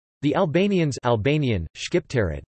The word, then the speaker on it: Shqiptarët: The Albanians Albanian, Shqiptarët, pronounced Sipta, T, are an ethnic group native to the Balkan Peninsula sharing a common Albanian ancestry, culture, history and language.